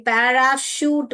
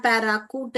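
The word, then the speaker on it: parachute: ये वाला क चुनोगे ये देखिए पैराशूट बोलते हैं हम पैराशूट नहीं बोलते हैं पैराकूट नहीं बोलते हैं हम श बोलते हैं पैराशूट लास्ट वाला देखिए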